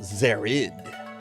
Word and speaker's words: Zered: Latest record from Zered, pronounced Zared.